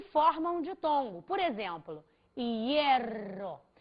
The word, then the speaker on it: hierro: Só que a prosódia, a pronúncia maior, não está recaindo sobre o HI. Ela está recaindo sobre o E. Então, imagine você que a sílaba é isso, hierro.